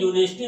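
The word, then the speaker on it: university: यहाँ पर you Wavell जरूर है, लेकिन प्रोनाउंसिएशन करने पर यहाँ पर यू की आवाज वाई यू निकलती है, यू निकलती है, जो कि व्यंजन है, स्वर नहीं है।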